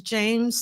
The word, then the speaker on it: Jeymes: His name is James Samuel, but it's spelled like Jeymes.